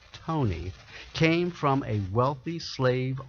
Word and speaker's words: Taney: county maryland taney olas okay is pronounced tony came from a wealthy